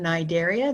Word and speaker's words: Cnidaria: here we have phylum Cnidaria the C is silent just like the word knife the K is silent this includes a greater